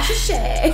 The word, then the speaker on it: Cassius Chay: the beautiful, now I don't know how to pronounce this, Cassius Chay? Yes. Oh, we did? Hey, on the first try! What? Yeah! Cassius Chay.